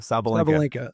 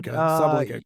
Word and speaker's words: Sabalenka: Sabalenka.